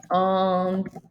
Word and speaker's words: entendent: Et il, elle entendent. And that ENT is, of course, silent.